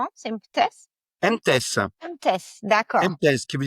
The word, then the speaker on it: MTESS: Est-ce que je prononce correctement ? C'est MTES. MTS.